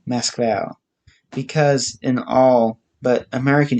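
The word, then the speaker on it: Москва: to his city as moscow russians themselves call it and pronounce it mask vowel with the emphasis on the last syllable vowel mask val because in all but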